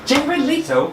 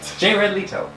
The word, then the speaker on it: Jared Leto: Leto yeah ratito j ray j bed Leto jared leto you have to say it right jared leto so you need to that you like weren't